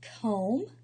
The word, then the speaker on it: comb: So we have the word comb, the B is silent, climb, the B is